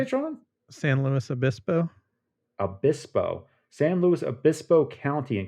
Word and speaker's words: San Luis Obispo: San Luis Obispo.